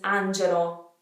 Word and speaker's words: Angelo: Marco Marco Marco Marco the next name is Angelo Angelo not Angelo I don't even know how I would have said this for years ago because we obviously have the word angel but because it's an all on the end we kind of know it's an Italian name so maybe we would say Angelo Angelo but that Oh at the end is really ugly to an Italians ears Angelo oh it's gentle